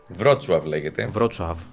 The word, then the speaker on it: Wrocław: It’s Wrocław. It is written with the L that’s crossed out. You can say “Vrochlav” and they’ll understand.